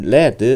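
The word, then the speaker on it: lead: 트 럼 atv on 레드 레드 라고 발음합니다 명사 로서 나비 라는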